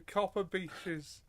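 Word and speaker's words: Copper Beeches: Yeah, especially as it's probably Copper Beaches or Beaches, because it's BEECHES rather than Breaches.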